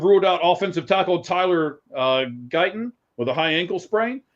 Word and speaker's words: Guyton: The cornerback, Diggs being out, or offensive tackle, I believe it's Guyton is how it's pronounced.